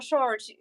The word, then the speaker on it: sword: So, two questions about your swords. Swords? Is it sword? How do you say that? Sword, yeah. There is a W, but we don't Oh, say it.